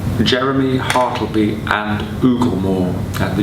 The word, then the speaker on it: Jeramee: at the beginning so it's oogle more and jeremy it's actually spelled with two e's at the end so it should be jeremy hartleby and ooglemore i give some time to the pronunciation of that title because a lot of